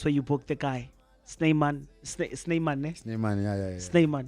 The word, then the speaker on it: Snymaan: That's where you book the guy, Snymaan. Snymaan, eh? Snymaan, yeah. Snymaan, yeah. I didn't say it wrong. Snymaan.